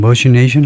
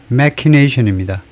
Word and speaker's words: machination: 거지만, 그것을 확실히 해보면, 머신에서 나온 거라면 그냥 머시네이션 할 수 있을까요? 근데 꼭 크 발음이 나올 것 같은데, 머시네이션이 아니고, 그렇죠. machination입니다. 머신인데 여기는 machination, CH가 크 발음을 하는데, machination이라고 하는데, secret, clever, often dishonest plan.